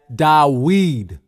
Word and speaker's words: David: This is why you hear some people pronounce David's name as Dawid.